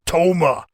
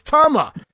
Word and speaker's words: Tama: no-selling Jimmy Powers, while Jesse Ventura continues to pronounce the name, it's Toma. As Gorilla finally corrects Jesse on the pronunciation, no, Jess, it's Tama.